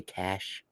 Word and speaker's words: Cachet: And I have rounding out at number 19, Moon Cachet. It's Cachet, right? CHC. Do people say cash? I think some people I prefer cachet. I think Yeah. it's pronounced both ways.